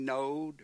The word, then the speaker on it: Node: which man Grandpa Ernie node rhymes with toad you know he comes